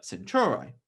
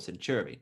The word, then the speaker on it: Centauri: which has to be alpha centauri or century depending on how you like to pronounce it which is this sort